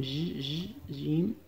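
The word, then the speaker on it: خ: Y la última, que sería la J. Y esta sería como la J de Jaén. O de Jarabe.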